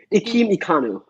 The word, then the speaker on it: Ikem Ekwonu: Ikem Ekwonu.